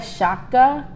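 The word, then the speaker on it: Chaka: The first is the first black woman, Maya Shaka. How you spell it? C-H like Shaka Khan, AKA.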